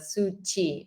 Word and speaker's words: Suci: Is it Suki or Suchi? The pronunciation the pronunciation is like suchi which means in language means like cure.